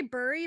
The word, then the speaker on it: bury: burry Bert Barry Barry some people say burry but I say bury even know like it's not I think it's Barry yeah even though they